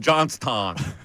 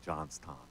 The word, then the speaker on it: Johnstown: I told you they don't pronounce the W from that part of the country. There's no W's. Yeah, it's a Pittsburgh-influenced dialect in Johnstown.